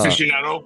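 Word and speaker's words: aficionado: how do you say uh aicando uh afficionado afficionado thank you.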